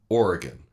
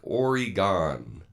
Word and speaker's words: Oregon: in I live in Portland Oregon and simple three syllables but I will often hear it by people outside of the state they'll say like Oregon and yeah that's not how it's pronounced right we have a